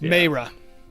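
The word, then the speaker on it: Maera: I think sure is is how do you spell that M II ma AE RA all right oh it's Mara we are seeing this story from vero and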